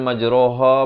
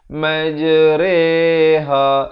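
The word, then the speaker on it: مجريها: saja dibacakan dengan imalah bacanya macam mana bukan majroha bukan majriha bukan majruha tetapi dibaca dengan majreha Rere macam kita sebut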